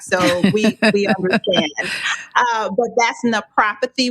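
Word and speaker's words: naprapathy: we understand but that's no prophecy with a p for pain relief and to not be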